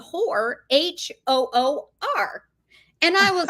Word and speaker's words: hoor: So I went on and I Googled Hoor. It is the way you say whore in Ireland.